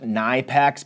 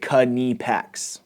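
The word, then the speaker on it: Knipex: And yes, I know it looks like it should be pronounced Nipex, but it's a German company and they pronounce it Kipex.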